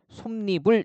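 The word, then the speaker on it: 솜이불: 크게 신경 쓰지 마세요 니은 참가해서 솜리불 이렇게 발음을 한다는 겁니다 그죠 뭐 맨입 그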